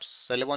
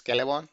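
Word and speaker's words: Celeborn: So not Celebon, it is Calebon. It's pronounced as K.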